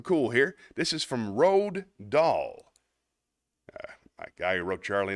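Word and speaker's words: Roald Dahl: I got something cool here this is from Road doll my guy who wrote Charlie in the Chocolate Factory and a few other things here we go this is be an Enthusiast by Ral doll r o a l d da a HL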